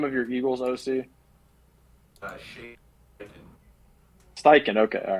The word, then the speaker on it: Steichen: defensive coordinator, and then Steve, how do you pronounce the name of your Eagles OC? Shane. Steichen.